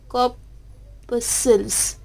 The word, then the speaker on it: corpuscles: How to pronounce this term corpuscles? That is, we can write K-A-W, that is P-U-H, corpuscles, and that term corpuscles is represent the number of tiny particles.